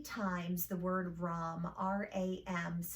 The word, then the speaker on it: Ram: We're going to chant 3 times the word Ram, R-A-M, pronounced Ram.